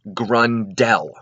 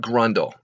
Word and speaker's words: Grundel: Oh, and by the way, the name is pronounced Grundel, not Grundle.